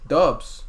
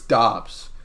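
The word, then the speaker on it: Doubs: comes to romeo dobbs dubs dobbs dubs i i've heard it's dobbs like prince i've heard both pronunciations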